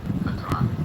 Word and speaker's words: Hadrami: Hadrami.